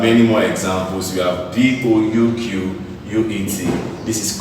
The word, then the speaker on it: bouquet: This is pronounced as buffet. Alright, we have many more examples. We have BOUQUET.